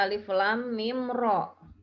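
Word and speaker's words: المر: Alif lam mim dibaca seperti membaca alif lam mim, dan ro-nya di sini dibaca 2 harokat tanpa imbuhan hamzah. Jadi dibacanya alif lam mim ro. Ro, jangan ro gitu ya, jangan ada hamzahnya ro.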